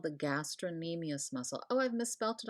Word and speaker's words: gastrocnemius: Some people refer to this as it's nicknamed the gastroc, but whenever there's a C before an N, which there should be on this slide, the C is silent and the N is pronounced.